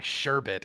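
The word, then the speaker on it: Sherbit: question, which is by Sherbet, and it's Sherbet with B-I-T at the end, so I'm not saying it wrong.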